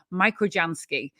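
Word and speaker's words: microjansky: a michael jansky is i wasn't sure it was a michael janski or a micro yansky but the online pronunciation guides all said microgensky shall we um wake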